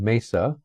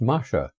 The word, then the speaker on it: Masa: My last name, Masa, spelled M-A-S-A, was originally a Bohemian name. That's now the Czech Republic, where it would be pronounced Masha.